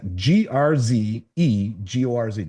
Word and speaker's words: Grzegorz: I can't pronounce this guy's name. Gregorz, maybe Grzegorz. That's Grzegorz.